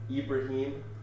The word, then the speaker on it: Ibrahim: Ibrahim. Ibrahim. Like Yeah. Abraham, but Ibrahim.